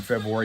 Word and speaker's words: February: I always pronounce the R in February, never pronounce the T in often, and we lost a little weight.